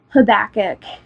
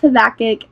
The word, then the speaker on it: Habakkuk: how to say it it does kind of sound like a sneeze I'll admit it but